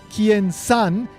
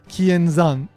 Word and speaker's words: Kienzan: that mistake is that they're pronouncing the z sound in zan as san, like an s sound. This is because generally speaking, Spanish speakers tend to pronounce the z and the s as the same. They pronounce it as an s sound. And so, you end up with Kiensan instead of Kienzan.